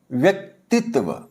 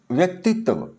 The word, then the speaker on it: व्यक्तित्व: तो अगर सही उच्चारण की बात करें तो ये होगा ऐसे जैसे जो लास्ट त से पहले जो वर्ण है जैसे त है इसका इ की मात्रा है इनको मिला के बोलना है व्यक्तित्व व्यक्तित्व तब ये उच्चारण बिल्कुल शुद्ध हो जाएगा यानी कि इनके सात्वों